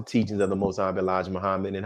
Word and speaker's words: Muhammad: i said mohammed sir and he told me it's pronounced moved back here and the accent is on the second syllable and i went away